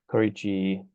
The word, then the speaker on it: Korechi: Okay, so yeah, we call Korechi Innovations Inc. You pronounce it right, Aaron.